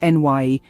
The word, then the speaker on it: Ni: function introverted Intuition or n actually pronounced NY plays a significant role